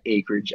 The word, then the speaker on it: Akridge: is it is it acreage or is it AC I feel like it should be pronounced it should be pronounced acreage because there's no C before the K right but like ack I